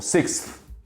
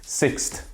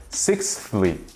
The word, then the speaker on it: sixth: Então muita gente acaba pronunciando esse TH no final como se fosse um T simples, sixth.